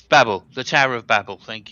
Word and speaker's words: Babel: No, it's Babel.